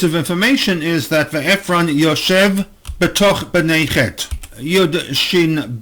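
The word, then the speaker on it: ישב: The very first time we have this shoresh in the present tense, the spelling is Yud Shin Bet, pronounced Yoshev but with a missing Vav.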